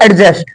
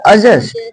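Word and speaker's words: adjust: यहां पर रूल है यदि डी के बाद जे आ जाए तब वहा डी साइलेंट रहेगा जैसे इसको एडी जे यू एस टी सब लोग बोलते हैं एडजस्ट जबक इसको होता अजस्ट अजस्ट अजस्ट अजस्ट means होता है मेल बैठाना इसको एडजेसेंट नहीं बोलेंगे इसको एडजेसेंट एडजेसेंट देखिए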